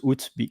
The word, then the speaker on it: août: in French is juillet, and August in French is août or août. But normally, I will suggest you to pronounce août to not confound with the other words.